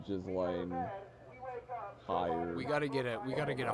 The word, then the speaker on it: Ghislaine: Ghislaine or Ghislaine? It's Ghislaine, according to like the 4 people I listened to, because I know one of them looked it up on the pronunciation.